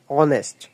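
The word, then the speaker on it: honest: ম্যান এখানে অনেস্ট এইস কিন্তু উচ্চারিত হচ্ছে না উচ্চারণ হচ্ছে অনেস্ট ও যার জন্য এন ব্যবহৃত হয়েছে।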